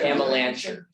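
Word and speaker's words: Amelanchier: Amalancher. Amalancher. And he can pronounce it too.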